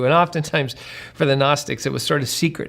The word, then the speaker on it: Gnostic: the the title The gnostics it starts with a g there's a silent G g at the beginning g n o s t i c Gnostic um it it's a